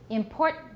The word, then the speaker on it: important: to show that It's not unt. Important. And don't open your mouth for unt.